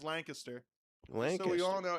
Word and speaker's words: Lancaster: Okay, so first off, the correct way to say it is Lancaster.